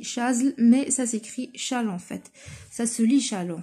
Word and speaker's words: Chasles: les relations de charles vient de l'écrire ça s'écrit chaze mais a écrit challans fait ça se lit challans fait donc je